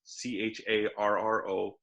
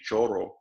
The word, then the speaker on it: Charro: And this guy, he's known he's as Charro Man, Charro. Don't mistake him for don't mispronounce and say Choro, because that's totally different. That's give you choro.